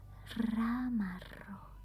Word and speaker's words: ramarro: Because we actually say it like this. Ramarro. Yeah, we are purring when we talk.